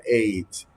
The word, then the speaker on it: ate: Ese verbo es irregular y su pasado es ate, se escribe ate, pero se pronuncia ate. He ate.